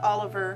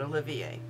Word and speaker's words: Olivier: mispronounce my last name it is o l i v as in Victor i e r that's Olivier not Oliver not Olivier but Olivier and despite the fact